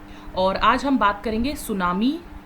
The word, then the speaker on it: tsunami: और आज हम बात करेंगे सुनामी से रिलेटेड। सबसे पहले तो सुनामी जो है वो प्रोनाउंस कैसे किया जाता है, सोनामी।